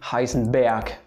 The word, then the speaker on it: Heisenberg: His name is Werner Karl Heisenberg, not Berg. It's not Heisenberg, it's Heisenberg. I can think of something that's equivalent in English, you could say, but just listen and repeat Heisenberg.